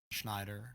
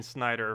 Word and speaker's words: Schneider: uh here it is is this correct the following pronunciation is come on Schneider Snider Schneider Snider I got it Snider okay I cheated yeah thank you Snider for the 4,000 subscribe